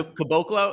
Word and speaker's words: Caboclo: How was his last name pronounced? Caboclo? Yeah. Caboclo.